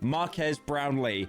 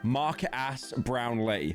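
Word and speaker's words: Marques Brownlee: world famous Tech YouTuber Marquez brownley not to be confused with How Will Smith pronounced him in YouTube Rewind Mark ass brownley and Mark ass brownley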